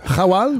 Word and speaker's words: Khawal: une brique qui s'appelle kawal Rawal oh ok excusez hawal ouais est-ce que je le prononce bien comme ONG ok ouais mais ça m'aide pas bon donc Rawal oui exactement ça c'est le privilège